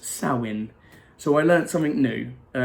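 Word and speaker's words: Samhain: Halloween and our holiday and it's a team pronounced soin so I learned something new so yeah thanks to my friend Mandy I now know that it's called Sally and and not Sal hey nor ever I said I in the beginning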